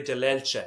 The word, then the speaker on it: Dellelce: with my friend Perry Dellelce, and I'm saying it properly the Italian way because when you're in our business, you're supposed to say it properly, although more commonly known as Dellelce.